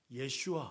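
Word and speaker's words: יֵשׁוּעַ: 자, 몇 번 얘기했지만 여호수아의 히브리식 원어의 발음이 따라해 볼게요. 예슈아. 예슈아. 이게 히브리식 여호수아의 정확한 발음이에요.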